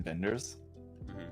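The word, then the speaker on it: Wenders: his name but Vin vendors it's with a W but it he's like a Dutch or something so the W's pronounced as a v gotcha uh I think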